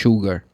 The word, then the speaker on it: sugar: to drink coffee with sugar. And sugar is not sh is s u g a r. It's not sh, but the pronunciation the same as sh.